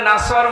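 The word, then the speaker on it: نصر: হয়নি এখানে সোয়াদ আছে নাসর মানে সাহায্য আর নুন সিন র নাসর মানে এ গল্প কি আপনি যদি মুখটা গোল করে শুদ্ধ করে উচ্চারণ না করেন অর্থ আকাশ পাতাল পাল্টিয়ে যাবে আল্লাহ পাক বলেন নবী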